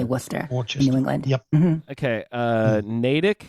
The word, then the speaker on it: Worcester: which is of course spelled we were Chester but we say Worcester New England okay uh